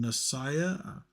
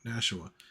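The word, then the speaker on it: Nashua: is Devil's Den from nsiah make sure I said that right because uh yeah see I don't mess it up n nasua sorry I guess I did say it wrong nasua anyway uh now see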